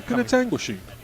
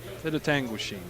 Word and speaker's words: Penetanguishene: And their opponent, who John will pronounce for me, has the hammer. Penetanguishene. Penetanguishene.